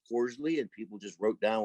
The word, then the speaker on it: Costley: spelled his name correctly his last name was costly c-o-s-t-l-e-y he probably pronounced it with a long o as cordially and people just wrote